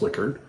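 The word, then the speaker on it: Likert: instruments that use Liquid scales and it is pronounced liquored um the larger scale you make the less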